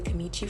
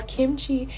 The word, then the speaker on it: kimchi: before second of all kimchi is pronounced exactly how it's spelled like it's it's all